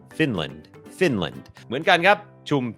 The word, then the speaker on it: Finland: เป็น คอร์ส ฝึก ออก เสียง ฟินแลนด์ อ่าน ว่า finland finland โอเค อัน นี้ บ่ง บอก ว่า จำ ได้ ม อัน นี้ ก็ เน้น พยางค์ ขึ้น สูง Fin Fin Fin พยางค ไม่ เน้น l l finland finland เหมือน กัน ครับ ชุม ชน ครับ community